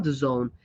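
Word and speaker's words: DAZN: keep in mind uh d-a-z-n how do you say that zone The Zone sorry this one oh my God Jesus is terrible all right the zone so the zone is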